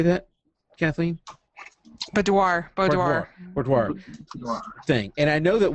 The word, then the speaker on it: boudoir: So, for instance, we've talked before about doing I can never pronounce this right. Boudoir. What? How do you say that, Kathleen? Boudoir Thing.